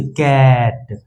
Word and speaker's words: cat: तो सी का उच्चारण क से, ए का उच्चारण ए से और टी का उच्चारण ट से, जब मिलेंगे तो ये क्या बनेंगे, कैट।